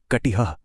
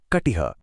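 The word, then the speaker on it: कटिः: संस्कृत में इसका उच्चारण कटिह किया जाता है। कटिह।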